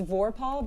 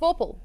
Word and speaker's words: vorpal: It's Vorpahl, but Vorpahl. but say it. Vorpal. It sounds like the same. Vorpahl. Vorpahl. It sounds like the same syllable or the same. You know what I mean? The vowel sounds the same.